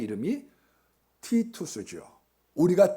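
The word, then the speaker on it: Titus: 로마의 장군 의 이름이 티투스 주어 우리가 디도 라고 하는 장군을 어 원래 발음은 티토 수입니다 많은 얼마나 장악해 는지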